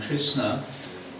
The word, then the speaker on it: Krishna: And Krishna, just with a short A at the end, is the vocative form